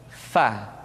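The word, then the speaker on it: فاء: Diucapkan dengan menyentuhkan ujung dua gigi seri kita bagian atas dengan bibir bawah bagian dalam. Fa. Seperti kita mengucapkan huruf F di dalam huruf Latin. Fa, fi, fu, baf. Suara dan angin mesti keluar dengan lembut.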